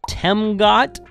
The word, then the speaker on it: Temgot: I got a new battery from temot t m go t that's the way it's pronounced it's got a really really cool screen